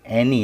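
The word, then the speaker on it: any: क्यों आई पढ़ रहे हैं? क्यों? ध्यान दीजिए, वाई से पहले दो आवाज़ें हैं, एक तो ए की आवाज़, एक एन की आवाज़। जब भी वाई से पहले एक से ज़्यादा आवाज़ हो तो वाई को आई पढ़ा जाता है।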